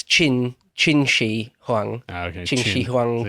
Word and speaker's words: Qin: there you go yeah Quinn is his chin for a start but